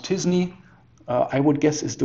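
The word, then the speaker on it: t-SNE: content here probably this method which is pronounced disney i would guess is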